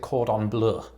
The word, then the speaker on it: cordon bleu: to sound pretentious you you don't exactly pronounce it the french way like i do i suppose that makes me sound pretentious i pronounce it cordon bleu i don't usually affect